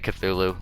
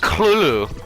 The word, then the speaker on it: Cthulhu: really I don't even I just say Cthulhu it seems to be the general accepted way it said I think is I'm the scholar like a literary scholar what's his name St Yoshi it's like an HP Lovecraft expert and he pronounces it clue and I'm just like that's the dumbest thing I've ever heard but okay cool ooh